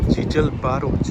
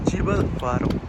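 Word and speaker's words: Gibralfaro: कैन गो टू, ये place है जीजल बारो, pronunciation is जीबल बारो।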